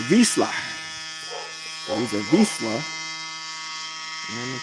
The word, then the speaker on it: Vizsla: He's if I say it in American, it'd be a Vissla. But if I pronounce it right, I believe it's called a Vizsla.